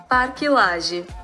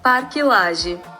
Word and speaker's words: Parque Lage: So I took the time to Google it, and this is how it's pronounced. Parque Lage, Parque Lage, And after this educational capsule, let's continue with the trip blog.